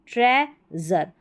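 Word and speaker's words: treasure: यहाँ पर देखिए, एक तो ज़र पढ़ेंगे इसको, ठीक है, ज़र पढ़ेंगे, और दूसरा शर पढ़ेंगे, दो है इसके उच्चारण। देखिए ये है यहाँ पर में ज़र, ठीक है, ये है प्लेज़र, ठीक है, ट्रेज़र। और यहाँ पर प्रेज़र नहीं है, प्रेशर है, इसमें शर पढ़ा है, ठीक है।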